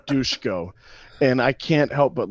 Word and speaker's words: Dusko: Mr. Dusko, they pronounce it Dushko, and I can't help but laugh every time I say it, but hey, whatever, it's his name.